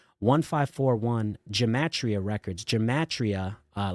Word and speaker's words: 1541: expect so for example right I think you pronounce my name 1541 that's that's what most people would expect looking at it but I pronounce it as 1541 because I'm I'm communicating that people and things